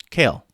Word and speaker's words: Chaol: I told Rick, if you say kale with a southern accent, you're saying it right.